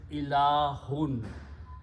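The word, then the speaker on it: إلهٌ: Important thing always is that when there is a noun, always there will be two tanween or two dhammas or two pesh at the last letter. So the full word is ilahun.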